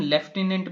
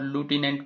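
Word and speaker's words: lieutenant: अच्छा, इसे हम लेफ्टिनेंट भी पढ़ सकते हैं प्रोनाउंसिएशन में और लूटिनेंट भी पढ़ सकते हैं।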